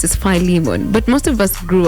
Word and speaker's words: Philemon: Apparently, it's supposed to be pronounced as Philemon, but most of us grew up knowing that it's Philemon.